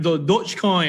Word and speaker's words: Dogecoin: kate thank you okay so you've got the heat right pronunciation dodge okay i mean i mean i heard you saying i think sounds correct all right dodge coin all right so this is the right pronunciation okay anyway this is the